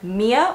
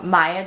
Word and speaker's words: Miya: I'm very excited because we're going to be talking about the insert name here, Mia or Maya, depending on how you say it, ponytail.